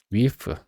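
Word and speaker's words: wff: 스트랙트 프루솔트 그다음에 위프. 이거는 왜 위프라고 했는지 모르겠는데 예전에 메타매스 제로 말고 메타매스 원래의 메타매스에 관한 그 책이라고 하는지 모르겠네 문서에서 이거를 위프라고 읽으라고 했던 거 같아요.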